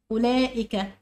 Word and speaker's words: أولئك: أولئك هي كمان فيها ألف ينطق ولا يكتب، محدش يكتب الألف اللي بعد اللام.